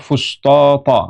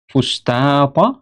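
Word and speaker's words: الفسطاط: Pertama dibaca fustot ya. Kemudian yang kedua ee fustat ya dengan ta kemudian baru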